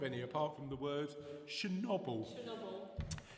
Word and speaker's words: Chernobyl: It's not Chernobyl, it's Chernobyl.